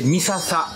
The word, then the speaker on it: 三朝: 三の朝と書いて三朝と読みますけども、